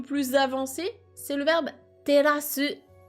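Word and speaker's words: 照らす: C'est le verbe terasu, qui se prononce comme une terrasse en français.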